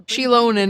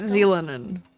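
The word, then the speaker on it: Xilonen: Shilonen, not Zealonen.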